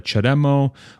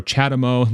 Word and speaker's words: CHAdeMO: it's significantly smaller than the chademo or chatimo depending how you want to pronounce it and the CCS adapters